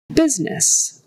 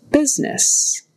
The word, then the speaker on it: business: going back type moving business business so that U is pronounced like a short I don't ask me why